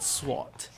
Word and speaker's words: sword: only said joke about how i would pronounce the word swat i was it just